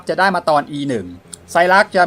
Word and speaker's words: Saileach: พระ ประ ดู ใส่ รัด กัน นะ ครับ อ่าน ว่า ใส่ รัก จริง ๆ นะ ครับ เป็น ภาษา ไอสแลนด์ นะ ครับ แปล ว่า ต้น